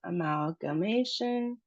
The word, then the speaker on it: amalgamation: Amalgamation. So, we have the emphasis on the ma sound, and it's a long a sound, -ma- -tion.